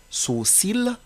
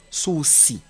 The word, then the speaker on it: sourcil: persc on peut dire sourcil tout comme on peut dire souri on peut dire nombrile